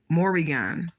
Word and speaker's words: Morrigan: Her name is, I'm gonna say it right, Morrigan.